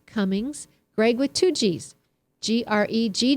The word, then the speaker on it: Gregg: I'm totally just destroying Greg with two G's sounds like an a yes that's right and Greg with one g sounds how with an e sound so it's either an